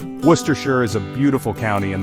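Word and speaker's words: Worcestershire: Oh, the English language and its delightful disregard for spelling things phonetically. Worcershure is a beautiful county in the West Midlands of England.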